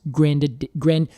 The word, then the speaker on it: grandidieri: Because it's named after a person whose last name is Grandidieri. Oh my God. Grandidier is his last name. They add an I to the end of it because they are Latinizing it.